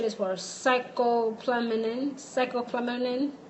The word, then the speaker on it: scopolamine: Scopolamine. Scopolamine. It's spelled Scopolamine.